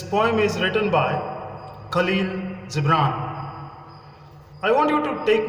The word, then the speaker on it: Gibran: It should be pronounced as Gibran. Khalil Gibran.